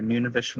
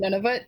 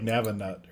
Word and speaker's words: Nunavut: I just thought it was like Navanut or Whatever. Never. No, like it's kind of like none of it, but none, like a deeper Nunavut.